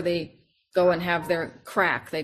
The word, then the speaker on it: craic: That's where they go and have their crack. They call it crack, but that's Gaelic for fun, you know, it's CRAIC, crack.